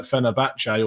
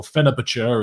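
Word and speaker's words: Fenerbahçe: But I think we've seen from his performances at Fenerbahce, or Fenerbahce, as Hugh Izzy will tell me it's actually pronounced, that I don't think it would have changed too much in the grand context of things.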